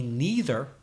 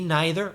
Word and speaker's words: neither: me neither or me neither there's two pronunciations of the word me neither me neither is to